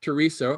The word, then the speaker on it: Teresa: reading the section called teresa gives free advice where the matriarch teresa or teresa if you pronounce it properly when when the son